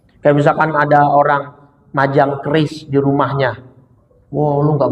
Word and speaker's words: QRIS: Lah bacanya keris itu kata BI Bank Indonesia. Bacanya keris bukan QRIS.